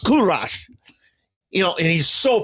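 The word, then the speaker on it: کوروش: He says, "Kurash." That's what he says. In Persian, it's pronounced Kurash, you know, and he's so proud.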